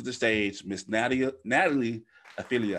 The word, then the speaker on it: Orfilia: it so natalie i feel ya am i pronouncing that right ophelia so i got that right i feel you